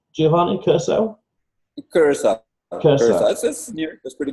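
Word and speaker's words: Curaçao: Curacao.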